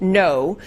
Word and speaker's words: Ngo: and I looked it up and so it's pronounced no so this journalist yeah and Ino was at